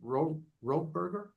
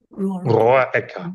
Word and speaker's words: Roecker: And also to you, it's how do you pronounce it again? Roeburger? Roecker, yes. Roecker. Roecker, yes.